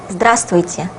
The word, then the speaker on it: здравствуйте: You can hear a slight difference between what you can guess from the way it is written and what I have just pronounced. This letter is not pronounced because it would be quite difficult to pronounce all the letters in this word.